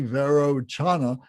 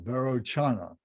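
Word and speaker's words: Vairocana: Varanchana, so that C, Varochana, is like a hard C. It's like a CH, Chana, Varochana, who is the natural purity of consciousness of the expanse of phenomenal reality.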